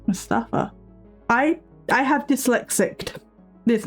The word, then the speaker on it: Mustafa: His name is not Mufasa. That's the lion from the Lion King. It is Mustafa. M U S T A F A. I have been saying it wrong.